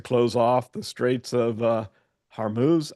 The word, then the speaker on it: Hormuz: off the Straits of Hormuz, I believe is how you pronounce that. I'm always unsure of exactly how to pronounce that, where a good portion of oil is transported.